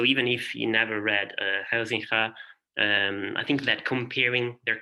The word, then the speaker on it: Huizinga: the Dutch historian Johan Huizinga. Yeah, in Italian we all call him Huizinga, but I discovered that in Dutch it should be pronounced Huizinga, I don't know, or something similar.